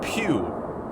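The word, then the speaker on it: Pugh: Pew, spelled P-U-G-H.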